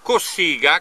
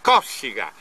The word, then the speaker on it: Cossiga: una cosa allucinante Allora nonostante gli fosse comunemente chiamato Cossiga con la la cente sulla u la pronuncia originaria del conome è Cossiga si tratta di una